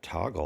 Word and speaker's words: Toggl: Okay, so since that's time management, I'm going to take off Fantastical and put Toggle on there. It's actually TOGGL. Of course it is. Extra cool without the extra syllable.